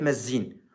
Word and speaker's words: مزين: كرديه وكمثال على ذلك قريه مزين هكذا تلفظ قريه مزين ومزن بالكرديه تعني الكبير